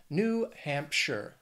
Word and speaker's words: New Hampshire: next is New Hampshire two words three syllables the stress is going to be on that first syllable in the second word looking at Hampshire now that last syllable it's not sh it's not like Frodo in the Shire it's sure New Hampshire New Hampshire I also